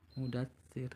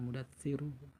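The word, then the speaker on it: مدثر: Mudatsir, jangan mudatsiru, bacanya mudatsir.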